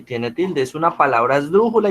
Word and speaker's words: esdrújula: Tú dices esdrújula. O sea, suena raro, pero ese es el mejor ejercicio para usted saber dónde lleva el acento. Usted no dice esdrújula. Pues yo. En Dru. En dru, No, muy profe. bien. Ajá. Usted dice esdrújula. ¿Cierto? Digamos que el acento grande o el acento mayor la tiene en esa sílaba.